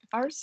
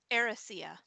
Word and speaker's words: Erisea: Arcia, I think? It's Erisea.